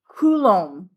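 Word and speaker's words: coulomb: And the accent's on the first syllable. Okay. a kulom each bucket of electrons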